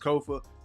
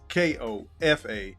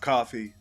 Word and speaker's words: Kofa: Once again, I'm your humble host, Kofa, K-O-F-A, not coffee, not kufu, not Kofi, or any variation thereof. Kofa rhymes with sofa, easy to say, easy to spell.